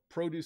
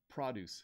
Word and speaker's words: produce: So produce section or produce section. And there's another way. There's produce, and produce. You can pronounce this word three ways.